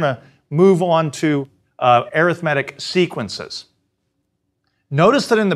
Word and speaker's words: arithmetic: the word looks like arithmetic and we sometimes pronounce it that way but the same spelling also can be pronounced arithmetic if you uh emphasize a different syllable and this is what